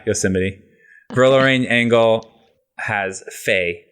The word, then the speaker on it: Yosemite: kids nine re ver actually pronounced yosemite yeah yosemite roller ring angle has